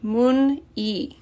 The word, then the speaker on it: 문의: And again, it's pronounced 문의. Even though it's written as 의, here it's pronounced just e.